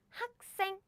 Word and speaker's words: 학생: So this one should be pronounced as in 생, 생, as in 학생, 학생, which is you, student. 학생, 학생. 가일론 씨 맞아요. It's 악수 and 학생. It's a natural pronunciation. If you say 악수, 학생, nope, nope. We don't pronounce that way.